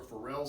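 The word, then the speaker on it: Ferrel: are called hadley cells these are feral cells or pharrell cells i've heard it pronounced two different ways i don't really know which one it is i'm about this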